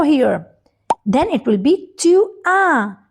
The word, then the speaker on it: tu as: Then it will be tu as and S is silent. Alright? So it is tu as with A and S.